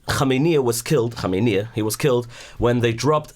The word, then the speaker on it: Khamenei: My father-in-law asked me to pronounce his name right. The Iranians really, like a lot of Iranians, his name is Khamenei.